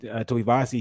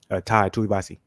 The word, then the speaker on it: Tuivasa: So I'm like, at some point I think Tuivasa, he's going to change what he's doing, and